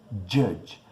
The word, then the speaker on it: judge: Ele fala judge. Enfim, ele pronuncia como J, eu nem consigo pronunciar. Judge, acho que ele fala. E é judge. Então o J em inglês é j.